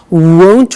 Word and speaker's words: won't: sunny is the negative won't remember the difference between will not won't and want won't want so be